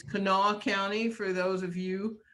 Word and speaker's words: Kanawha: are very funny about how county names are pronounced it's not kanawa it's not county it's kanawha county for those of you who have seen